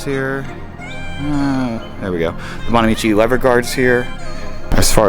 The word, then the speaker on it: Bonamici: I'm running the Bonamici, I think is how you pronounce it.